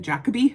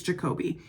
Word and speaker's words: Jacobe: I used to pronounce it Jacabe. I thought it was Jacabe and people told me I was wrong. It's Jacobe.